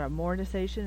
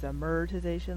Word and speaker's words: amortization: saying amortization wrong because it's not am organization its amortization like America so I apologize for